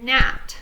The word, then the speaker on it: gnat: And GN, the G is silent, as in gnat. So and gnat is a bug.